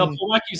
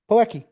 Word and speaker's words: Plawecki: And Plawecki's also hitting 235 compared to 059 for Heineman.